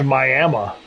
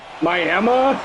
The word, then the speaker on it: Miami: It's Miami. Miami. That's how they say it.